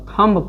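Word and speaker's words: thumb: थ अध म ब थंब पढ़ते हैं। थंबने जैसे बोलता बच्चा लोग के अंगूठा होता है। अंगूठा का माने क्या होता? फॉर्म क्या होता है? यह बी हमेशा स- साइलेंट हो जाएगा। यानी एम के बाद हमेशा बी साइलेंट होता है।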